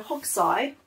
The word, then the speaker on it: Hokusai: nice to have it so hog sigh it depends how you want to pronounce it but i'm going to say hoksai he was japanese and